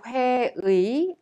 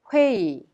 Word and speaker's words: 회의: Pay attention to the pronunciation of 회의. The last syllable 의 is pronounced e because it is easier to be pronounced e instead of 의.